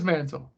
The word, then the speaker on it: Manziel: Yes, it is Manziel. But it's more fun calling. That was on purpose, actually. That was on the Manziel.